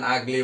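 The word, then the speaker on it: ugly: এবার দেখুন হি ইজ অ্যান আগলি বয়, তো এখানে ইউ এর উচ্চারণ কিন্তু ইউ না হয়ে আ হয়েছে, আগলি, এই জন্য আমরা সঙ্গত কারণে এখানে কি লিখেছি?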